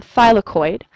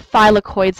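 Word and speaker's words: thylakoid: is called a phylloid which I noticed some people struggling to pronounce phid phid membranes or simply just phids is fine and if I was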